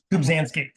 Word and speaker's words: Kubzansky: You recently co-authored an op-ed with Mike, and how do you pronounce Mike's last name? Kubzansky. Yeah, Kubzansky from Omidyar about AI.